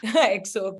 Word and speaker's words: EXO: yes, tell me about It, how do you pronounce it's EXO curls. EXO.